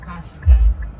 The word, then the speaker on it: Qashqai: So it's actually pronounced Qashqai. I like the cash part. Yeah, the Kai part can go on, but the cash.